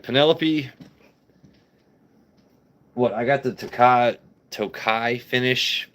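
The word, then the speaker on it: Tokaji: What I got the Tokai finish, it's spelled like Takaji, but the Tokai finish I got for what, around $100.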